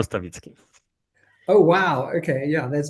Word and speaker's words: Stawicki: Stawicki. Stawicki? Is it Stawicki? Well, this is how you English people read it. In Polish, we spell it Stawicki.